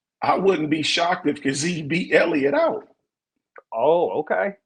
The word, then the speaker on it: Kazee: Devontae Kazee, I believe is how you pronounce his last name. I love that kid, Kazee.